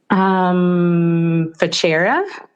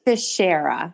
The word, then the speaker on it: Fichera: I just want to know, how would you say it? Fichera? No. That's actually how so many people say it. It's Fichera.